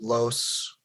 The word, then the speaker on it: Loos: o you know so it was los like los like uh the um plural the i believe in spanish you know l-o-s same pronunciation like um you know